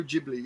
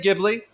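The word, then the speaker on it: Ghibli: think by the way I think that's pronounced Studio jibli it's an Italian I say gibli because I like it better like GI and and GIF I just can't say jibli I can't do it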